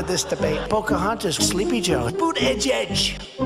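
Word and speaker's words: Buttigieg: debate pocahontas sleepy joe boot edge edge boot edge edge i said think of it as boot and then edge edge because nobody can pronounce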